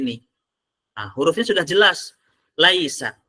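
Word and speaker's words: ليس: Laisa. Kan pasti bacanya laisa, nggak mungkin bacanya lisa.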